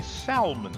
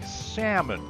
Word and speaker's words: salmon: loud we don't say salman steak here we say salmon here's an easy fix just drop that pesky ell when pronouncing salmon let's do some role-playing